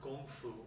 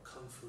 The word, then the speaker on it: kung fu: another form of and the word go foo or kung fu depending on the pronunciation you can have going